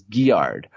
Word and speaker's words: Guillard: It's not Melvin Gillard, it's Guillard. Or Chance, which one drives me nuts?